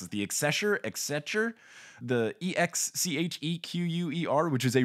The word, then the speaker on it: Exchequer: Oh, the Exchequer? Yeah, the Exchequer. There we go. It said the chancellor of the Exchequer.